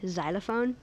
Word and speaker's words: xylophone: variations of the xylophone xylophone am I pronouncing it correctly xylophone yes xylophone x y l o